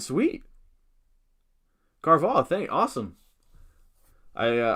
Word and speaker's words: Carvalho: you have no idea man oh i did pronounce it right sweet carvalho thank you awesome i uh all right rate